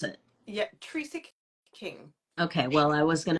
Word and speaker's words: Trecek-King: name for everyone so that I do not mispronounce it yeah Teresa King okay well I was going to mispronounce it